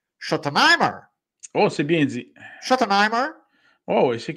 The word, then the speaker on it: Schottenheimer: On a été chercher, bon, je vais faire attention avec ma prononciation, Brian Schottenheimer. Oh, c'est bien dit. Schottenheimer.